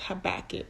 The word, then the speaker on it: Habakkuk: me double check y'all it's pronounced habakkuk the prophet habakkuk um